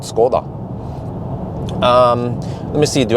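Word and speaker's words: Škoda: say here okay skoda in norwegian we call it skoda what's called ms gordon skoda that s has a little thing over it and so i was told it's actually called skoda skoda something like that you have to the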